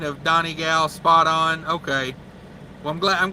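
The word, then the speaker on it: Donegal: uh let's see patrick says you got the pronunciation of donnie gal spot on okay well i'm glad i'm glad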